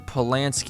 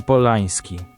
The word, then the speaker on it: Polański: Famous director Roman Polanski, even though English media often drop the N. Okay. Roman Polański. Okay, that is definitely different.